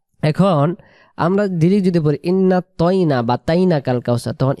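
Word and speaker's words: إِنَّا: টান দিব না উচ্চারণ ইন্না প্রথমে গুন্না ইন্ পরে না বলে টান না তাহলে কিভাবে বলব ই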